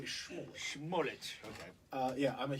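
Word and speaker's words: Smollett: Yeah, you have to say Schmollett.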